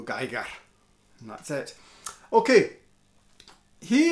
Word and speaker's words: Giger: Ibanez made with HR Geiger. Giger. He's Swiss, I'm not. My pronunciation is bloody awful. So being Scots, I go Geiger.